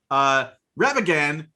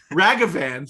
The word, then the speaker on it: Ragavan: Ravagan, the nimble Pilfer.